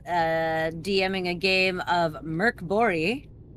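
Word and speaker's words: Mörk Borg: dm'ing a game of merc bori that's how you pronounce it that's that's that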